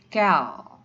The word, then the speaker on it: quel: dan Chelsea menang pluro semua bacanya cara bacanya adalah sama yaitu Cal crutchlow Hai jadi saya sampaikan sekali lagi Hai cara bacanya adalah sama walaupun tulisannya berbeda-beda cara bacanya adalah scale yang artinya untuk katanya